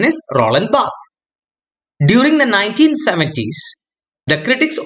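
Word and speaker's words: Barthes: and one such scholar is Roland B the pronunciation is Roland B during the 1970s the critics opposed the concept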